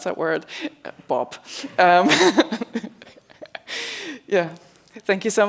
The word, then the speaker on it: BOB: Um and for those who don't know how to pronounce that word, Bob, um yeah, thank you so much and I hope that you have some questions.